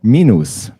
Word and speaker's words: minus: plus plus yes and the same u sound is also there for minus minus which is of course minus all right and now